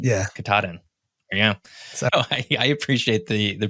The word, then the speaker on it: Katahdin: Katahdin. Yeah. Katahdin. Yeah. So I appreciate the pronunciation now.